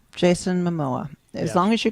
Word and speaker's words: Jason Momoa: Jason Momoa. Jason Momoa.